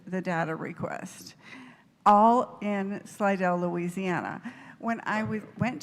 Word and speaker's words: Slidell: Slaggel Slidell Louisiana. Slidell. Okay. I'm sorry. Oh, I'm mispronouncing it.